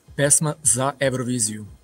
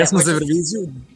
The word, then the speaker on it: Pesma za Evroviziju: So can you pronounce the national selection for me? Like, how do y'all say it? Pesma za Evroviziju. Okay. Okay. We're good. Pesma za Evroviziju, da.